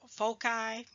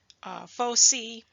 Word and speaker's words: foci: want to mention that the plural word for focus is pronounced different ways um Foci foci faux C now I'm going to